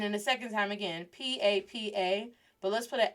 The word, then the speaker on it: papa: So the first one, sin acento, without the accent, is pronounced as papa. Con acento, with the accent mark, is pronounced as papa. Do you hear the difference?